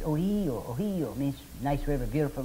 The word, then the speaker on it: Ohio: In fact, Ohio is an Iroquois word, only they, as usual, they don't pronounce it right. It's Ohio.